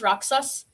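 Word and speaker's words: Rakshas: know you know but it's pronounced Roxas and um it's the napali word for for like demon or like blood sucking vampire and um why do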